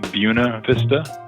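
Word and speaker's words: Buena Vista: The old guard would insist on calling it Buuna Vista.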